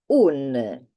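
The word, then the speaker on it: un': two so one is UN it is exactly the same pronunciation of un apostrophe obviously that apostrophe does not have a sound so don't try to give it a sound I'll say that because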